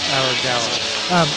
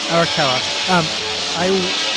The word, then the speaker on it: Arakawa: It's not Arakawa, not Aragawa. Arakawa.